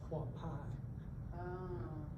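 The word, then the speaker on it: Quapaw: Native American word, and it's actually pronounced Quapai.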